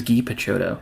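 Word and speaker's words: Guy Picciotto: his name is spelled guy guy PTO it's pronounced ghee his name is Gee picho must be a ferner uh or is it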